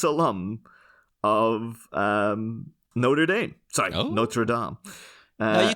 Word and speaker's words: Notre Dame: Dame t-shirt oh yeah the pronunciation of that in America angers me sorry Americans no just pronounce it properly but then yeah for